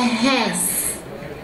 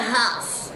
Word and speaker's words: Hass: that you can't pronounce it's called a hass h-a-s-s not a house not a heath but this dark color